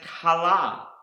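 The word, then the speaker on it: כלה: Another word that starts with the letter kaf is pronounced kala, and this word means to be complete, finish, a bride and daughter-in-law.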